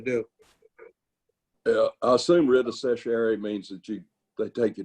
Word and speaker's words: certiorari: I assume writ of certiorari means that they take you to Chancery Court.